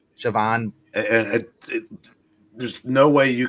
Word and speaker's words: Siobhan: You get a cute moment from Jimmy in Sibian, or how to pronounce her name? Siobhan.